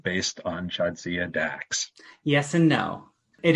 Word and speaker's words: Jadzia: It's an Eastern European name, but it's pronounced differently. It's pronounced Jadzia.